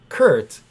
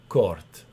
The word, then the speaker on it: Kurt: But it's spelled Kurt. right. Yep. So not Kurt, Court.